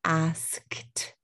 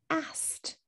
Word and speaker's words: asked: and you notice that when i say the word asked i don't say asked that's too much we don't like three consonants in a row and we normally drop one when we have three consonants in a row we'll drop one and we would say asked so i asked in